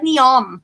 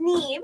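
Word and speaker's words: Niamh: Yes, it looks like Neom. If I were to think Neom. Yes. It's pronounced Neve.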